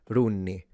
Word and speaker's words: di unni: Note that even though it's di unni, the reality is we pronounce this like an R with an apostrophe. Runni, runni.